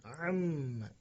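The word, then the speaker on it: عَمَّ: Amma yatasaalun. Harus memperhatikan ain. Harus menekan huruf ainnya. Am di pertengahan tenggorokan ditekan. Amma.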